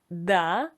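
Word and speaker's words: до: This phrase contains two words: DO which means until and it's pronounced as DA and the second one is SVIDANIYA and it means a meeting or a date.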